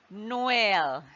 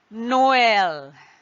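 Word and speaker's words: Noël: what does it do it emphasizes that the wobble is to be pronounced distinctly from the one just before it right so for example as you can see in this word Noel Noel now there are two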